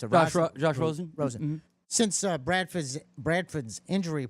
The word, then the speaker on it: Rosen: How do they pronounce it? Josh Rosen? Rosen.